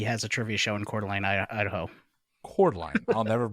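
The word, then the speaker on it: Coeur d'Alene: one because he has a trivia show in cordline Idaho cordine I'll never mispronounce that again Tim tanks were first used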